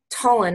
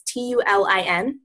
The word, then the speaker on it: Tulin: One person that I can tell you to even look at too is Coach Tullin. I don't think she pronounces it like that, but it's Tulin.